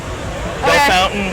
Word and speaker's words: Bellefontaine: Belle Fountain, which is spelled Bellefontaine. Bellefontaine.